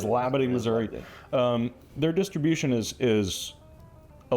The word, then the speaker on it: Labadie: We did get that confirmed. It is Labadie, Missouri.